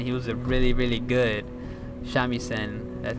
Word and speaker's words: shamisen: And he was a really good shamisen.